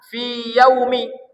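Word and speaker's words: فِي يَوْمِ: lagi ber harakat maka ini harus dibaca izhar. Izhar itu apa? Jolas. Fi yaumi. Jolas dia fi yaum. Tak boleh fi yaumi. Tak boleh idgam. Tak boleh dimasukkan dia tapi dibaca izhar huruf per hurufnya dibaca fi yaumi.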